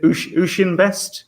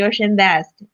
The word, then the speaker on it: Ocean Best: Is it Ushin Best? Utian Best? How should I pronounce it? Yeah. Hello, everyone. This is from Ocean Best.